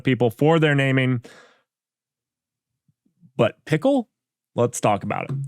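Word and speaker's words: Pkl: let let's talk about pickle so I learned that PK is actually pronounced pickle now you wouldn't get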